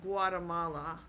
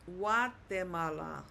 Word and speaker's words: Guatemala: In English, we might say it Guatemala, but in Spanish, it's Guatemala. Guatemala.